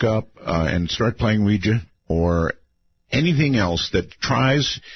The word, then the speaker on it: Ouija: No more Ouija for me or Ouija. Ouija. All right. Thank you very much for the call. I appreciate it. Yes, I'm I'm quite aware the correct pronunciation is Ouija Ouija board.